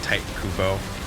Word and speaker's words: Tite Kubo: yes the guy there two strings type white mispronouncing but it's like Tite Kubo TI te is the guy who created and